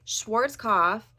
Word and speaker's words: Schwarzkopf: apparently I make things hard so it is Schwarz cough in Schwarz cof palette now will I remember that that's how you pronounce it in the future probably not and I will probably keep calling it Schwarz kof so no hate I just that's just how